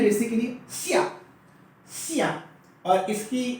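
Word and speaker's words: 下: तो ये आपका वर्ड बन गया आज का चौथा लफ्ज, जिसकी प्रोनाउंसिएशन है सिया, फॉलिंग टोन है सिया, और मायने हैं डाउन या डाउनवर्ड्स के, राइट।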